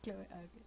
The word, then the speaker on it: Cloé: tan cabezones es que Cómo se pronuncia Chloe porque en japonés era kuroe Ah pues entonces sí es Chloe cloe Qué es este lugar